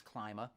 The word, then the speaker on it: Klyma: S-K-I at the end of a Polish name, ski, that has a E sound on the I vowel in Polish. And so I was always asked, is that Klyma or Klyma? And the English pronunciation, the Anglo pronunciation of my name is Klyma.